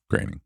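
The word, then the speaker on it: Groening: is it graining yeah it's spelled groaning but it's graining I I thought it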